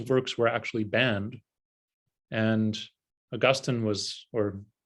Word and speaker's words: Augustine: were actually banned and augustine was or so i say augustine instead of augustine that's how they say it in england that's where i learned the most about him uh augustine was the